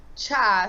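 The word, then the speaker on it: 차: Okay, the next one comes from Manny saying, in Korean, we pronounce tea cha, so we're almost the same.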